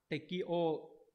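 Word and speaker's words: 適応: Chúng ta có câu 27, chữ này là chữ thích và chữ ứng, đọc là gì các bạn? Tekio đúng nhỉ?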